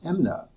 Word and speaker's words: MMNA: maintenance needs allowance and we used the acronym mmna which we in california pronounce as amna now that's going to